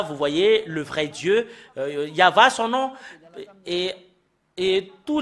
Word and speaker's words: Yahvah: sont enlevés de l'original normalement ça doit être yava que qu'on doit le prononcer bah ça a changé en y avit Jéhovah ou you ben alors que ce sont des noms qui n'ont pas été prononcés par les Juifs mais ce qui a été prononcé par les Juifs c'est yava et tout ceux qui